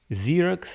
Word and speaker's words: Xerox: в лучшие людям расскажите как правильно говорить зиракс это будет интересно особенно когда они делают копии документы на своем и пикирует покрыт и говорят ксерокопировать почему же не говорят с юлей их юли копировать или или юли копирует отвечаю ксерокс слова начинаются с буквы x у нас в произношении принято что если буква икс это первая буква я думаю так то она признана как xii и сын вибро поэтому